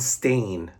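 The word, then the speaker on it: Stane: Obadia and stain like like a stain on a carpet, but it's not spelled like like a stain on a carpet or a rug.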